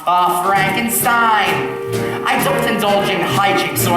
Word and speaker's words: Frankenstein: truth laughs that's Frankenstein my name it's pronounced Frankenstein yes yes the whole